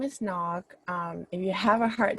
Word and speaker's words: Ngoc: Hi everyone, my name is Nog. If you have a hard time pronouncing my name, it's like you were to knock on the door.